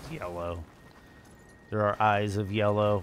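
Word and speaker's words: Yelough: weapon between this and yellow anx tunnel um will be maxed out and I know it's a weird it's a weird spelling but it is pronounced yellow there are eyes of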